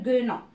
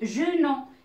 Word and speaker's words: guenon: Alors, si j'écris de cette façon, ça va me donner genon. Mais non, c'est faux. C'est faux. Où je vais mettre le U? Je vais mettre le U entre G et U. Et ça va me donner guenon.